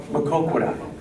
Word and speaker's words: Maquoketa: Maquoketa, I believe they say. Anybody know the actual pronunciation? That's right. Maquoketa.